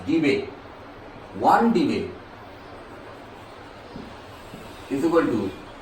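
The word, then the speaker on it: debye: It is pronounced as debate.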